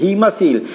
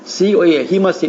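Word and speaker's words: haemocoel: देखिए अंग्रेजी का इसका ये स्पेलिंग लिख रही है हीमोसील, HAEMOCOA, हीमोसील। इसको हीमोसील कहते हैं।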